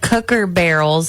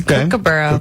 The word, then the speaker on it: Kookaburra: Heather Glass said cooker barrels. Have no idea how to say it or spell it.